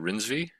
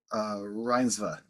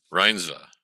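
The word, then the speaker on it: Reinsve: Renata, I feel like, how do you say it? Rinsby? Reinsva. Reinsva. I gotta get that Mhm.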